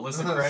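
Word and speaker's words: Ailsa Craig: the moment it really doesn't matter we can't pronounce it anyway alite allite ironically found on Alys it's Alysa Alysa Craig sorry Alysa Craig and Isle the airshire who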